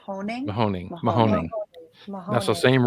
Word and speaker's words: Mahoning: you pronounce the name of the river that it crosses? Mahoning. Mahoning?